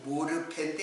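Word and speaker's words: μορφή: 하나님의 본체라는 말이 어떤 뜻이냐면 모르흐페, 흐 발음은 되게 이제 무음화 되거든요. 본체라는 이 모르페인데 이거는 모양, 형상, 외향이에요.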